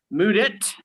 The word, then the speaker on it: Mudit: underground comedy festival please give it up for mood it how are you hello everybody youtube universe what is poppin my name is moodit i'll tell you a little bit tell you